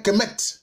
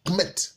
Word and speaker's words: Kemet: Il s'appelait Kemet. Ça s'écrit K-M-T, Kemet.